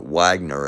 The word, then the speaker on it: Wagner: And I've been talking a lot about the Wagner or Wagner, as it's kind of pronounced here in America.